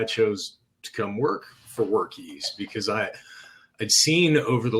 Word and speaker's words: Workiz: It is Workiz, and it's around being easy.